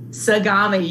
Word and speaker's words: Sagami: Sagami. You are correct. Yes. In Collingswood is this delightful sushi restaurant. And if you love sushi, Sagami is the place that you have to go.